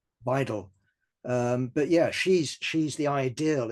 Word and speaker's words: Weidel: And there's your candidate for taming, Alice Weigel. Is that the right pronunciation? Or Weigel? Weidel.